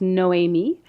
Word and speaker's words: Noemie: My name is Noemi, and it's spelled Noemie, because female names have a silent E at the end.